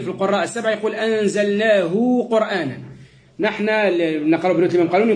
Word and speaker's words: قرآن: أكه أنزلناه قو واضح الراء في كلمة قرآن شو حكمها الراء علاش سبقت بضم نعم شو قرآن قر مش قر شو الفرق ما بين قر وقر الصوت يبقى الداخل واضح